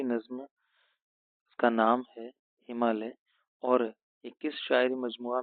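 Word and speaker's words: ہمالہ: ہمالیہ یا ہمالا، تو صحیح اس کا تلفظ تو ہمالیہ ہونے والا ہے ہندی کے لحاظ سے، اور یہاں پر ہم نے لکھا ہے ہمالا.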